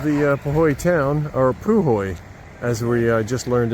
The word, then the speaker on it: Puhoi: All right, that's the Poy Hotel and Pub. All right, a little bit of the uh Poy town or Pu Hoy as we uh just learned it is pronounced.